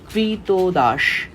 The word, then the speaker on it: কৃতদাস: গোলাম থেকে যাবে ওকে কৃতদাস এই কৃতদাস বানানটা একটু দেখো কৃতদাস উচ্চারণটা হবে এরকম কৃত দাস তারপরে লেখক কি বলতেছে